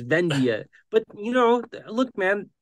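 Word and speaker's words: Vendhya: and it was wrong and I call V venad and I'm like no it's vendia but you know look man that's just something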